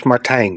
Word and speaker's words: Martijn: My name's Martijn, by the way, just to be sure. Rhymes with design. It's a Dutch name.